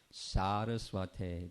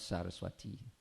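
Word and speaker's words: Sarasvate: But at least I can say Namaste Saraswate Deve. That's the proper way to say it. Not Saraswati Deve. That's Sanskrit grammar.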